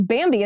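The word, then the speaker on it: Bambee: whole world upside down the good news is bambi is here to help small business owners implement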